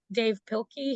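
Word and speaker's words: Dav Pilkey: One of my favorite authors, I think his name is pronounced Dave Pilkey.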